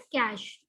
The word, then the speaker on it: cache: ये जो CACHE लिखा है, this is called your कैश memory. ठीक है, द प्रोनाउंसिएशन इज कैश।